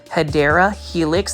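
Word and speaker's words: Hedera helix: Look at that massive Hedra Helix or the correct way to say it is, say it with me, Hideera Helix.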